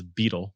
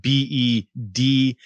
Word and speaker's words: Beadle: Beadle. In my mind, I always see his name as Beetle, but don't think of the bug, but Beedale.